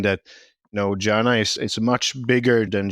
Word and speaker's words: Janah: think to say is when we talk about Janna it's if you think back in if you have ever played like video games you used this word mana so that's a similar pronunciation mana janna so and we don't